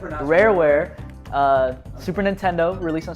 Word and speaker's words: Rareware: was uh developed by rarowa uh sorry i misspelled i mispronounced that rareware uh super nintendo released